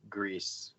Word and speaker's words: Gris: Grissom yeah it looks like disgust but it's pronounced grease or goodies you slate and it was made